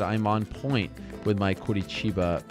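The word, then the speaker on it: Curitiba: on point with my Kurichiba pronunciation. And then I have someone else saying that please stop saying it. It's insulting. It's not Kichiba. That's a Rio accent, not all of Brazil.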